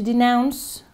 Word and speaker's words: denounce: To denounce, c'est avec une diphtongue.